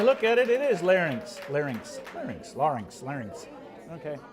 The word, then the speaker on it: larynx: vocal cords are Linx larynx larynx excuse me larynx is the part of your throat that contain I've said it wrong my whole life larynx no nothing nothing